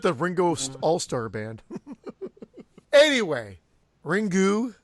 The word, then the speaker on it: Ringu: my film Ringu.